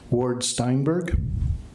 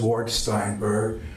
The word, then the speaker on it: Ward Steinberg: You did pronounce it right. It is Ward Steinberg.